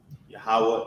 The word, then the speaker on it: Yahweh: Yahweh is how you pronounce his name correctly in Hebrew.